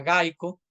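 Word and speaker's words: GEICO: los Estados Unidos que se llama gaico se escribe geiko y yo recibí de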